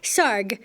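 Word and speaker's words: Sarg: our guy right there Anthony Tony from Fredick SAR SAR rhymes with ar thanks little guy that's Tony SAR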